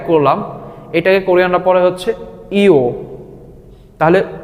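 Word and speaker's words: ㅛ: দেখেন ঠিক ও এর সাথে আরেকটা ছোট দাগ আমরা উপরের দিকে অ্যাড করলাম, এটাকে কোরিয়ানরা পড়ে হচ্ছে ইও।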